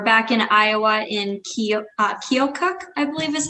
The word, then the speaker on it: Keokuk: may 27th we're back in iowa in uh keokuk i believe is how you pronounce it uh at joysticks rockade uh lincoln